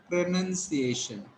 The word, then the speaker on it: pronunciation: You should not call noun. There is no noun in this word. It is none.